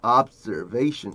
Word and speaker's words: observation: Replacing this with observation. 이거 한번 해볼게요. Observation, observation. Observation. 이거 중간에 Z 발음이 들어가기 때문에 사람들이 잘 못합니다.